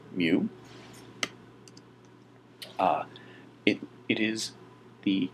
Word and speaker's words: mu: left you see the Greek letter mu it's pronounced mu uh it it is the Greek ancestor of